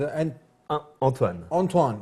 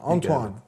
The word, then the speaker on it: Antoine: Back here on The Dean Show with Anthony, and proper pronunciation or proper way to say this name is Antoine. Antoine.